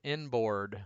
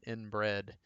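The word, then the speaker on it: INBRD: the Florida Alabama border that is pronounced inboard but if you weren't careful you could easily pronounce that inbred and depending on who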